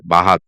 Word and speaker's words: bath: The long a sound words like bath, dance, dance. In many British essence, we usually uh use a long a instead of o instead of shorter. Say bahhat. It's like a h. It's not bad.